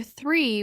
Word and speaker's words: three: Place your tongue lightly between your teeth. Let the air out without vibration. Compare three with tree which begins with a t.